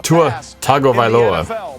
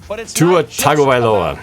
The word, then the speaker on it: Tua Tagovailoa: I was pronouncing his name all wrong, by the way. Tua Tagovailoa. I was missing a few consonants and vowels in there, mainly like 5 or 6 vowels. Tua Tagovailoa.